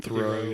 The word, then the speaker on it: Theroux: Theroux, yeah.